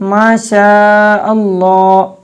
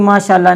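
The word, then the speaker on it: ماشاءاللہ: इसलिए जब भी बोलें दुरुस्त अंदाज में बोलें माशाअल्लाह, तो ये प्रोनाउंसिएशन आपने सही करनी है, इसको माशाअल्लाह नहीं कहना।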